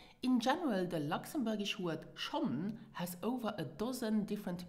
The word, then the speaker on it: schonn: So sometimes the N of Schonn are dropped and then it is pronounced Scho.